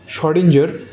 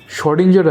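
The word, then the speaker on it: Schrödinger: de Broglie के एक student जिसका नाम है शडेंजर एस एच ओ नाम का स्पेलिंग थोड़ा सा गड़बड़ है मतलब गड़बड़ नहीं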